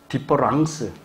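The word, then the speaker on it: différence: 자, 발음의 차이가 있나요, 없나요? 없지요. 그럼에도 이게 두 개가 같은 건가요, 다른 건가요? 다른 거죠. 이런 말은 원래 프랑스 말에 없어요. 만든 거예요. 요거 E를 A로 만들었어요. 장난친 거죠. 근데 발음은 같아.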